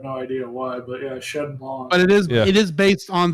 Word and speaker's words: Shenlong: You said Shenlong, which is the actual Japanese name for the character, but in America we've always called it Shenron.